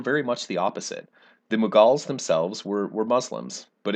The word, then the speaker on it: Mughals: another major empire the mughals of india last week you read about sometimes pronounced moguls as well that's where our word mogul comes from so last week you